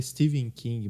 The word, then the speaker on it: Stephen King: é o Stephen King eu sei que é pronúncia certa Steven King mas aqui a gente tá falando em português sou eu vou falar Stephen King o ano original de